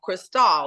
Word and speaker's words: Chrystale: it that way that she spelled it so people would attempt to pronounce it like Crystal like the champagne but honey my family